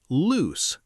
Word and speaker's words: loose: Second, loose, l-o-o-s-e, two o's. It is usually an adjective. It means not tight, not firm, having room to move. Pronounced loose, like goose, like moose.